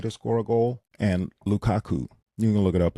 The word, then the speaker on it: Lukaku: score a goal, and Lukaku. You can look it up. It's spelled just like how it sounds, of Belgium to score a goal.